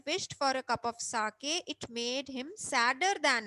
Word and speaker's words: sake: So SA is pronounced like fa in father, and KE is pronounced like way, means K.